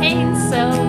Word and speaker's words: Hainso: And Ricky Kiki Taco, and Rio, and Rob Castile, and Rob Hainso, rhymes with rainbow, Rob Lines, Rob Rested